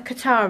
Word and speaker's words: Qatar: What did we think about the Qatar race?